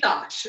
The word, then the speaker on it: Doche: we're going to start off with Stephanie Doche, rhymes with Hodge.